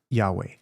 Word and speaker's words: Yahweh: It's Yahweh.